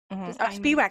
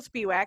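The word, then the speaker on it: Spiewak: linkedin to rachel spiwak speedwack i said your name wrong i'm so i'm so awful it's okay i'm pretty sure we're saying it wrong too because it's technically polish so okay that's funny okay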